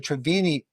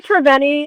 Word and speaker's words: Treveni: She's a visionary fashion producer, activist and founder of the Travini Institute. Did I say it right? I think I did. Treveni, you say Treveni, it's all good.